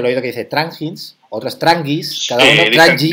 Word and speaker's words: Tranjis: Dicen, ah, los de Trangins. O sea, es la J como la pronunciamos.